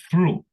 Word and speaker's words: through: aquí esta palabra eh mucho ojo con la pronunciación si la escritura les parece si la escritura les parece difícil la pronunciación va peor pero no no no no es tan difícil true through through ya Qué significa through